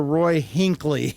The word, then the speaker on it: Roy Hinckley: Except Maria, somehow you butchered some of the names. It was Jonas Grumby. Oh, no. And it's Professor Roy Hinckley.